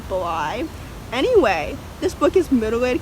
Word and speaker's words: Bly: the deep blue sea i have been saying hazel blee the deep blue sea just because it rhymes with c but it's probably really pronounced bly anyway this book is